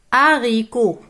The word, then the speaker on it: haricots: je découvre un mot haricots haricots hôpital hôpital j'observe alors h ne se prononcent pas il anime et